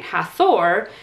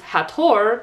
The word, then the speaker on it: Hathor: instead of pronouncing it hathor as i had done my entire life it is pronounced hathor because ancient egyptians don't have the sound in their language or at least i